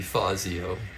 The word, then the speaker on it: Fazio: I can tell you if it was correctly pronounced the Italian way, it would be Fazio, but they didn't always do that in Major League Baseball in the 60s.